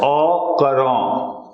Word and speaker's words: au courant: This is pronounced as au courant, with the current.